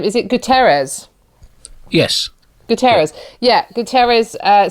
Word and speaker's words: Guterres: uh i wonder i'm gonna make sure i pronounce his name is it guterres yes guterres yeah guterres uh said that we're nowhere near